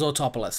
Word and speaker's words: Autopolis: Polis, because I had decided that it was Autopolis. That's how you say it.